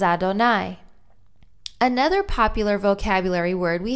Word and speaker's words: Adonai: And again, we have El Moshe, to Moses, and the Yud Hey Vav Hey, which we pronounce as Adonai.